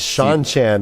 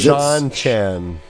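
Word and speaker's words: Seanchan: Is Sean Chan is? Shanshan. Oh, is Sean Chan. Sean Chan. Yeah, Yeah, S-E-A-N, it is like some Sean.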